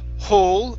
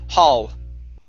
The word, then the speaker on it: hall: Instead of hole with an O sound, it's an ah sound. Hull.